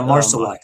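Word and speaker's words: Marsillach: Stars Christina uh Marcelash. Is that how you say it, Darren? Marshall is Yeah, Marcelac.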